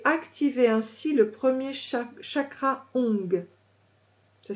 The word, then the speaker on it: Ong: Quand vous le chantez, rentrez le ventre, serrez les fesses et activez ainsi le premier chakra Ong. Ça s'écrit ONG.